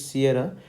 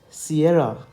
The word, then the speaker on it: Sierra: a i r okay you have to emphasize on this a i r then r a h basically it's Sierra so you have to pronounce the letter s in phonotics as Sierra Sierra Sierra okay so